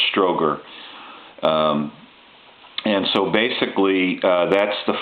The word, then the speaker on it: Strowger: that you see here the guys name is spelled STR o WG er Stroger and so basically that's